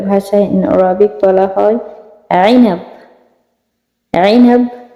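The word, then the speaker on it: عنب: আইনাব মানে আঙ্গুর, হারফেল আইন উচ্চারণ হবে, ঠিক আছে?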